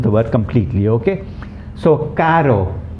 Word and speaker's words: caro: container okay now know the difference you must pronounce these properly for example in the case of c a r o and c a double r o they are